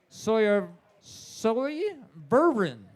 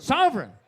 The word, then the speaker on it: Sovereign: I believe it would be pronounced Sawyer Bervin. Why don't you ask him? Sovereign.